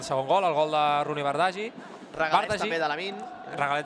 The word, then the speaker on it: Bardghji: Marc Andrés, gran professional, que la pronúncia és Rooney Bardghji. Bueno, més o menys ho estàvem dient bé, No, però més que res el cognom, Per tant, agraïm al Marc aquest cop de mà i, per tant, doncs, segons aquesta informació, que ens en refiem, òbviament, perquè és informació de primera, doncs l'hem de pronunciar així, Rooney Bardghji.